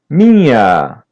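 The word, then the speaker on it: minha: Mia mia repeat part after part. Ma ma mia mia. Letter N is a light N and letter H is pronounced as Y. Mia.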